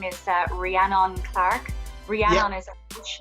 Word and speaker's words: Rhiannon: want to clarify that my name is uh rhiannon clark rhiannon is a huge name so it's very unusual for people to uh uh pronounce so rihanna clarke or h-i-a-n-n-o-n clark c-l-a or k music